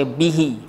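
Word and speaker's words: بِهِ: Tapi kita sebut bihu ke bihi? Alhamdulillah Rabbil Alamin wa bihi nasta'in. Kita tak sebut wa bihu, kita akan baca bihi.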